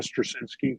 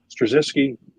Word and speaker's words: Straczynski: Michael Straczynski, I think is how you pronounce his name.